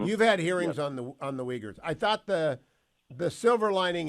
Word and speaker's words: Uyghur: of Miami did not know anything about the Uyghurs. You're on the Select Committee on Engagement with the Chinese Communist Party. Mm-hmm. You've had hearings on the Uyghurs.